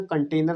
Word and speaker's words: कंटेनर: इसको हम लोग कंटर कहते हैं पहाड़ी भाषा में। इसका सही प्रोनाउंसिएशन कंटेनर होता है, जिसमें कोई चीज़ कंटेन की जाती है।